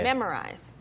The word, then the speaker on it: memorize: Kind of like mer. 아, or처럼 되는군요. Kind of, yeah. 뒤에 이제 Memorize. R이 있으니까 Right. 그래서 MO 발음이 우리가 그냥 흔히 memo라고 할 때 그 O가 아니고 또는 OU가 아니고 memorize. memorize.